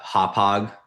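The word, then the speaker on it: Hauppauge: Um, and then the other search that I did in anticipation of this was just um cuz the office is in uh Hop Hog uh New York, right, on on Long Island.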